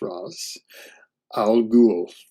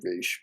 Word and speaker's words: Ra's al Ghul: For those that don't know, that's Ra's, and yes, it is pronounced Ra's Al Ghul. Yes, I know a lot of people like to say Raish, but the creators pronounce it Ra's, and I've always pronounced it Ra's as well, so there you go.